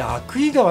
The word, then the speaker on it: 鮎喰川: あれアユクイ川って書いてアクイ川って読むんですよね。